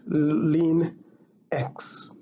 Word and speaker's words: ln x: This one is pronounced as ln x.